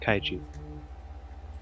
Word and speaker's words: Kaiji: And it's pronounced kaiju. Kaiji? Okay. I look at Kaiji and I say, "Do we want to go check out this cave, Kaiji?"